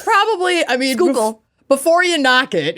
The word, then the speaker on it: Schuylkill: Schuylkill. Okay. I mean, it's probably, Schuylkill.